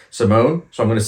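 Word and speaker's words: S1m0ne: Next up number six this the wording and everything is so weird for this one but apparently the actual title the pronunciation is um Simone.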